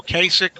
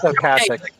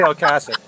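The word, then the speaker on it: Ocasek: I don't know how to say his name, Rico Kasich or Yeah. Kasich from the Cars. It's Okasik. Kasich. It's really Okasik. Well, That's how he pronounces it.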